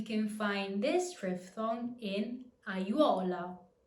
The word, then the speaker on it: aiuola: Combinations of more than 3 vowels don't exist, so A makes its own syllable and it's pronounced separately.